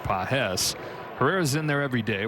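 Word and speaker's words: Pagés: Spelled the same way as Andy Pajes, but he pronounces it Pajes.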